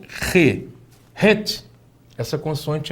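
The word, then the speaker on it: ח: Het. O som tem que ser gutural, né? Ele tem que vir da garganta para a pronúncia ser uma pronúncia correta.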